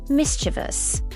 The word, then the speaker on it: mischievous: Mischievous. Mischievous. Notice it's three syllables.